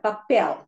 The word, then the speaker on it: papel: It has got 2 syllables. And the stress is on the before last syllable. Not before last, as the normal rule. Because it ends with an L, it is pronounced as papel.